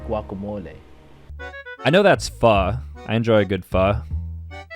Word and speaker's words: pho: The term derives from Spanish, which is pronounced guacamole. I know that's pho.